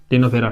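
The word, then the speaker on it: Ctenophora: सी silent है इसमें एंड इसमें भी सी साइलेंट है तीनोफेरा ठीक है इस प्रकार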